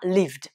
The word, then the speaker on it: lived: Et la prononciation de, on a lived.